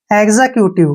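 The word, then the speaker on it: executive: ई vowel आया है जब भी एक्स के बाद वावल आता है तो एक्स का उच्चारण गज के रूप में किया जाता है नेक्स्ट वर्ड है ई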